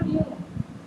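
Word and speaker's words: μ: Kalau ini bacanya mu.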